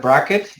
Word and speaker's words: Braket: Bearing in mind that Braket is spelled as B-R-A-K-E-T. It's not Braket with a C. This is because of Leo Dirac's quantum computing bracket notation that refers to the bracket mathematical notation. There's no C on the name.